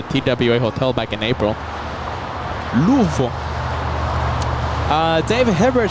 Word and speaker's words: Louisville: And David Hibbert helping us with that pronunciation of Louisville. Louisville.